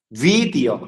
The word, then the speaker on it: দ্বিতীয়: যেমন দ্বিতীয়, দ্বিতীয় বফলার উচ্চারণ ভালো লাগতে হবে, এখানে কিন্তু রিফলা শোনা যাচ্ছে না, রির মতো হচ্ছে না, দ্বিতীয় এভাবে বলতে হবে।